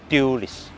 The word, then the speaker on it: Dualis: It is called Dualis Dualis DUALIS . Please be careful with the pronunciation.